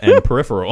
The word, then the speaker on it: Peripheral: Go check out the Princess Switch and Peripheral on Hulu. Well, how do you say it? It's Peripheral, but you said Peripheral. All right. Like the band Periphery, but then with an eel at the end.